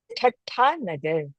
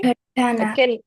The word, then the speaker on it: Thatta Nagar: So, it is Thatta Nagar. Okay? Thatta Nagar. Yeah. Can you all unmute yourself and try to pronounce that?